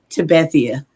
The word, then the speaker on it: Tabathia: How you say it? Tabathia? It's Tabathia. Tabathia.